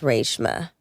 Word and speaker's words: Reshma: But it's it's supposed to be pronounced rama really.